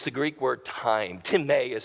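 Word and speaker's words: τιμή: well with thee it's the Greek word time Tim a is how you pronounce but it's spelled time and it literally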